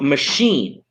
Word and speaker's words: machine: If it comes from French, ch is pronounced with a sh. So machine, right?